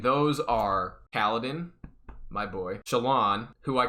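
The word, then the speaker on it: Shallan: just throw an sh in front of it shaolin that's her name but then i come to find out everyone calls her shalon it's just like that's stupid her name is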